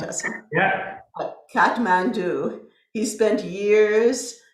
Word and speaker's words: Assam: Am I pronouncing that right? Assam?